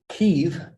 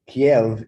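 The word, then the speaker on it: Kyiv: And in the 800s, early 900s, Kiev, which is the Ukrainian pronunciation, Kiev is the Russian pronunciation.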